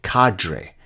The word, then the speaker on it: cadre: And again, remember, there is a whole cadre, or as the Americans say, cadre, but the word in French is cadre.